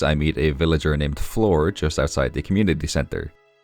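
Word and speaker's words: Flor: it's like that but floor is spelled f l o r because this villager's name is floor I I apologize for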